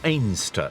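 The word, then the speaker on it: Anstruther: But it kicks off in the coastal town of Anstra or Aster as the locals pronounce it.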